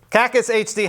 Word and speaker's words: KackisHD: a different set and joining me today is caucus HD how do you say your name caucus